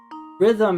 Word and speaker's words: rhythm: a silent letter in the word rhythm has a silent h right a chord